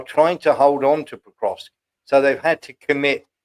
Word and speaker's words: Pokrovsk: Pokrovsk, is it? Oh, Pokrovsk.